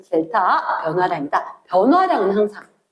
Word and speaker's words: 델타: 세모처럼 된 걸 뭐라고 읽을 거냐면 델타 다른 교로 델타 이렇게 읽을 거거든.